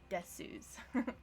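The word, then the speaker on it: です: Oh, also on that note, if you ask a Japanese person, they will say they always pronounce the su. They will say, yeah, des. You can hear the u. You can't. They're lying. They're lying to themselves.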